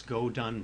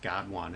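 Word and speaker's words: GO_DONE: go done okay that's that's not pronounced god one it's go done okay so we can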